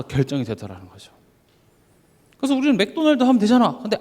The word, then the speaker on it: 맥도날드: 사로잡히기도 하고요 그래서 제가 저번 주 말씀 제목이 마크도 나르도 있죠 어떤 분은 그게 무슨 히브리어가 뭐 되게